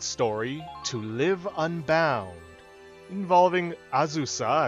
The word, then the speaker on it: Azusa: In the previous episode, we took on the squad story to Live Unbound, involving Azusa, as her name is actually pronounced, Scott, and Norid, who attempted to help Azusa escape from her ties to her clan back east.